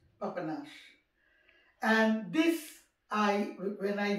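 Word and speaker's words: Papanași: menu e a p it sounds like papanasi but it is pronounced papanash and this i when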